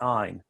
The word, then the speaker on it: Ayn: lots of people make that mistake but it's pronounced ein like she runs with pine or mine okay